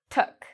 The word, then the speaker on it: took: Now this is very different from the word took, took. Notice my lips are not in a circle, they're more spread out, took.